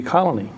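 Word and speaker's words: Colonie: an I.E oh okay it would be colony okay and I understand people who move here have a little bit of trouble with that saying colony colony it's the the accent is on the last part of the word oh okay um and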